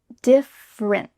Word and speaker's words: different: You're going to say different, but you don't let that little final puff of air come out. So we need to say different. Your tongue is stopped at the top of your mouth.